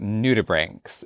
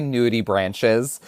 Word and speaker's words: nudibranch: We're talking about nudibranchs, which that is how you say it, right? I keep wanting to say nudibranches, which again, that's probably a very different thing. It's a branch full of naked people. Nudibranch.